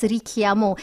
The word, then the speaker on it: Richiamo: And yes, the name Richiamo actually pronounced as Richiamo. It is an Italian word translated to call.